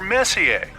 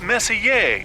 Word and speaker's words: Messier: Well, young lady, the M stands for Messier. Pronounced Messier, not messier, as in is your room messier than mine.